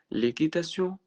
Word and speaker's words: l'équitation: L'équitation اللي هو بعد الكيو ما بتتنطقش.